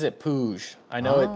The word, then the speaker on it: Puig: Yeah, he pronounces it Puig.